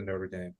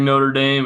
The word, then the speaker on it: Notre Dame: some goofy French words it looks like Notre Dame it's Notre Dame um Clemson Stanford welcome